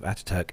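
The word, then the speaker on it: Atatürk: So the gradual shift from Ataturk Airport, I think that's how you pronounce it, Nev? Ataturk? Yes, yeah. Ataturk, yeah.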